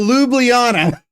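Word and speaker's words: Ljubljana: thing so the L the J is silent so lublana the Lites you've got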